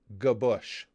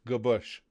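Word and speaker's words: Gwozdz: last name g-w-o-z-d-z is gaboush it's almost it's pronounced like g hyphen b-u-s-h g-bush how how the hell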